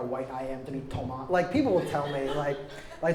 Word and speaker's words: Tomás: That's why my name is Tomás, a little accent on the A, which is just, it's too ethnic for how white I am to be Tomás.